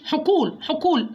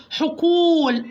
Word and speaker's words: حقول: عندي مد الواو زي كلمة حقول، ما اقولهوش حقول غلط، اقول له حقول، ادي الحرف حقه في النطق، حقول. انا مديت ايه؟ عملت واو مد ضمة وواو يبقى مد واو.